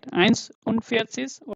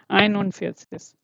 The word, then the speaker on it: einundvierzig: Eins unvierzig oder einundvierzig? I want to hear. Or eins unvierzig, which is correct? Which is correct? Yeah, that's right. Excellent. So that is the correct one. So we don't say eins, okay?